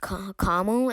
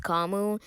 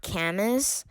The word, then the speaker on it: Camus: reason why it's pronounced kamu and not kamus it's because i think it's either french or italian and it's because they don't really say their s's like they keep it silent but anyways so like